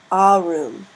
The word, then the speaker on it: arum: the genitive plural ending is spelled a r u m and is pronounced a room notice how the a is drawn out a room that makes it a long a sound a room the dative